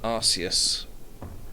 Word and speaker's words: Arceus: Pokemon Arceus. Bruh, yeah, I know it's meant to be pronounced Arceus, but it's definitely Arceus. I pronounce it Arceus because you don't pronounce Zeus Cuse.